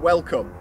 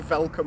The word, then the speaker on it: welcome: would be the word welcome because it was felt that germans couldn't pronounce the word welcome they would say falcom instead and if they'd infiltrated